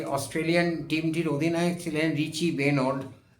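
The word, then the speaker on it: Benaud: সালে ভারতে সফরে আসা ও অস্ট্রেলিয়ান টিমটির অধিনায়ক ছিলেন রিচি বেনোর। উচ্চারণ রিচি বেনো বেনেউড বেনো রিচি বেনো দুর্ধর্শ অধিনায়ক যেমন অধিনায়কচিত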